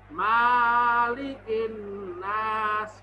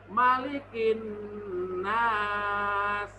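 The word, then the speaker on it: مَلِكِ النَّاسِ: boleh anak-anakku membacanya panjang malygin lunas kurang tepat yang benar gimana Pak Jatmiko malikin Nas lanjut Hai ilah himnas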